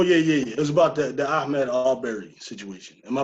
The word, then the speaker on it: Ahmaud Arbery: It was about the Ahmaud Arbery situation. Am I pronouncing his name right? Ahmaud Arbery.